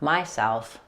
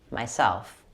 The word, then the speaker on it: myself: For the word myself, make sure you stress self rather than my, not myself, myself.